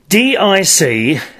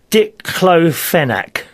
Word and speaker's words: Diclofenac: D-I-C-L-O-F-E-N-A-C. How do you say that? Diclofenac.